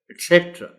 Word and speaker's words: etc.: I don't know why, but लोग इसको etc. पढ़ जाते हैं. etc. etc. C पर स्ट्रेस है.